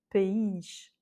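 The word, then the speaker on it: país: Enfin non, puisque comme il y a un accent, on voit tout de suite qu'il a l'accent tonique en fait, c'est facile. Pays.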